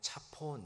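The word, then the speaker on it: צפון: 북방 북방을 히브리 말로 하면 차폰 이렇게 발음합니다.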